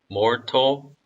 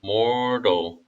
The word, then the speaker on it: mortal: 여기도 무음으로 하셔도 되고 티귿 발음도 하셔도 되는데요. mortal 아니면 mortal.